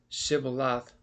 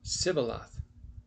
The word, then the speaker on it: Shibboleth: Then said they unto him, say now Shibboleth. And he said, Sibboleth, for he could not frame to pronounce it correctly.